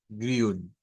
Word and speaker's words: grün: Esa Y en el alfabeto fonético internacional para nosotros debe de significar, recordemos, ese de acá, debe de significar una una I redonda. Grün, grün.